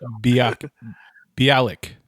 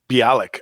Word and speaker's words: Bialik: and big bang theory mayam oh yeah that's bialik bialik okay bialik yes so uh she's gonna